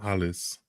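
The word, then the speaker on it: Halys: don't he plays Quinton halis oh yeah that would Quon halis actually I think they the age is silent in in French most of the time but yeah Quint is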